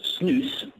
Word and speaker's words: snus: it what is yes this product well it's pronounced news comes from yeah most people won't have heard